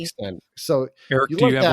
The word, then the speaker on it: Xtend: Extend.